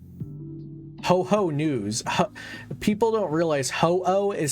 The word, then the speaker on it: Ho-Oh: People don't realize Ho-Oh is spelled H-O-O-H. It's not ho-ho like Santa Claus. It's Ho-Oh.